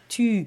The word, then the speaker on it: tu: You need to push your u So sound.